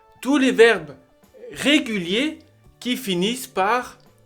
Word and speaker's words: finissent: finit ont fini nous finissons vous finissez ils finissent elles finissent ça c'est la terminaison de tous les verbes